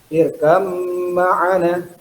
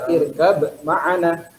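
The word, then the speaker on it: ارْكَب مَّعَنَا: Nah ini ba bertemu dengan mim. Dibacanya irkam ma'ana. Tidak boleh irkab ma'ana. Ya. Masuk ke mimnya.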